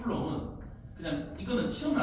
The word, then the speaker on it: 쿨롱: 전기의 성질, 전하, Q라고 쓰고 보통 단위는 쿨럼. 얘는 플러스 아니면 마이너스야. 플러스 아니면 마이너스야. 참고로 플러스 1 쿨롱이라고 읽어. 쿨롱. 플러스 1 쿨롱은 그냥 이거는 시험에 안 나와.